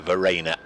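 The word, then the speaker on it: Verreynne: I've even phonetically written it down for you here, Verena, as in Ollie Rayner or Claire Rayner or T. Strainer.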